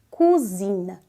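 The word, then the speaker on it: cousine: alerta aqui para você cuidado com a pronúncia dessa palavra tá porque cozinha de cozinhar em francês é cuina cuina cuina e prima em francês é cuzina cuzina cuina cuzina cuina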